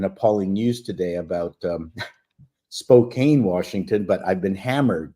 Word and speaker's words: Spokane: news today about um Spokane Washington but I've been hammered now it's Spokan so that that's unbelievably important it's not Spokane it's Spokan I had no idea